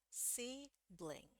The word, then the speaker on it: sibling: Sibling, sibling, sibling. Oke, kita bedah sekarang. Nah, I di bahasa Inggris itu tidak sama dengan di bahasa Indonesia.